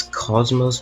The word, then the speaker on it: kocmoc: I probably should pronounce this as Cosmos, but I won't because funny, kocmoc.